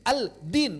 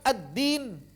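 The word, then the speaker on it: الدين: Tapi kalau misalnya kita mengucapkan al ee al apa bertemu dal ee addin. Aldin berat kan? Saking dekatnya makhrajnya. Aldin berat. Aldin. Maka lebih mudah addin.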